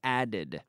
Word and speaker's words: added: add numbers yesterday I added today I add add yesterday I added two syllables added but other than that